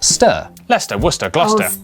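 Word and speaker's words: Gloucester: amongst you through a couple of Basics is pronounced stir Lester wer gluster w at the start of the final syllable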